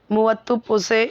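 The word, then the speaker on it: Muvattupuzha: The name of a town मुवत्तुपुझे in Kerala is not pronounced the way it is written. The last three letters are pronounced as r with the roll of the tongue.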